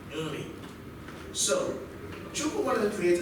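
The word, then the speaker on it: Nri: That's how it's actually pronounced, Uri. So you have to put some emphasis on the N before adding the R-I, Uri.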